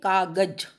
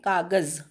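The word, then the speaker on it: कागज़: कागज, अब इसमें क्यों लगाते हैं, क्योंकि इससे उच्चारण में अंतर पड़ता है। ठीक है, जैसे अगर आप नुक्ता नहीं लगाएंगे तो आप क को क्या पढ़ेंगे, कागज, लेकिन नुक्ता लगाने के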